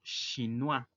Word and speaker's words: chinois: Otra forma de decirlo es ils sont chinois. Recordemos que la unión de las vocales o i suena ua y la s al final no se pronuncia.